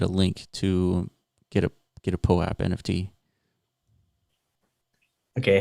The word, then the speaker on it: POAP: I think that's the proper way to pronounce it, though, POAP. Because we've been through this before. We for whatever reason we keep reverting back to Pope.